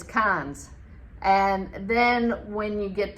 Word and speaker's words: Cairns: And you look at the city of Cairns, you think it's pronounced Cairns. Nope, it's Cairns.